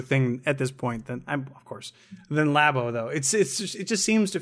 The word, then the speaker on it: Labo: So, did we determine how it's pronounced? Is it Labo? It is Nintendo Labo. It's Labo.